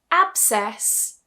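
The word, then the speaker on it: abscess: If we take, for example, absess. Absess. You see, I don't pronounce the C here.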